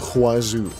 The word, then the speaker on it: wazoo: and quests out the wazoo. It's pronounced with a hua, not just a wa, okay? If you're saying wazoo, you're saying it wrong.